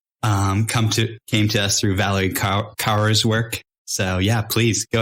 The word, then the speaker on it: Kaur: This is came to us through Valerie Kaur's work. So yeah, please go ahead, Dave. Yeah. How do you say her name? Kaur? No, it's like Kaur.